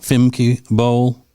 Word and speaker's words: Femke Bol: And her name is Femke Bol. Am I pronouncing it correctly? That's correct. Femke Bol.